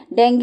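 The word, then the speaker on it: dengue: तो देखो सबसे पहले तो डेंगू होता है ना? डेंगू या डेंगू जो आप प्रोनाउंस करते हो डी एन जी यू ई।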